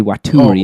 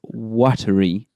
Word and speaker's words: Waturi: And that word shouldn't be Waturi as everyone's pronouncing it. It's Waturi. Oh, of course, yeah. Waturi. As in watery?